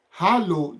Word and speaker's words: Hallo: Hallo, the way you spell it, hallo, it is Hallo.